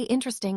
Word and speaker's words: interesting: Say interesting when you're bored. Now say it when you're excited. Did the syllables shrink? Most people say intang dropping the middle sound.